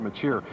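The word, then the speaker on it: Mečíř: In fact, it's pronounced a lot of different ways, but we say Miloslav Machir.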